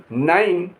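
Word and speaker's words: nine: और आखिर में अगर ई लिखा है तो उसका कोई उच्चारण नहीं होगा। कैसे? WIFE वाइफ, वाइफ माने पत्नी। NIME नाइन, नाइन माने 9।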